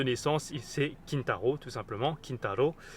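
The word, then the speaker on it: 金太郎: Kintaro, plus précisément dans sa prononciation japonaise.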